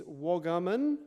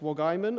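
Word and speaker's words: Wagaman: And for the people who live in Darwin, the suburb is Waggaman. Maybe in Sydney it's pronounced Wagaiman, I don't know, but people who grew up in the Territory pronounce that suburb as Waggaman.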